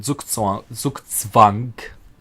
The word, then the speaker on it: Zugzwang: So when you notice that your opponent is basically in Zugzwang, correct pronunciation for the Germans out there.